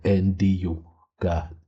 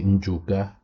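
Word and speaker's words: Ndyuka: They will say Nd or Nduka to try and pronounce it. But I will say Njuka. That's how my people pronounce it.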